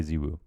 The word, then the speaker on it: ZywOo: fall in the finals we just made the decision we're going to say we're going to say zebu we're going to get used to it and we're going to say it so that's how we've